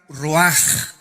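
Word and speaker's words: רוּחַ: Esta palabra vientos es la palabra hebrea roach, que se pronuncia roaj. La ch en el hebreo se pronuncia como J y que es la palabra espíritus.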